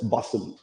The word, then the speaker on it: Basel: So some people pronounce this as Basel, okay, which is the correct pronunciation as per the German speaking population there, but English speaking people call it Basel, okay?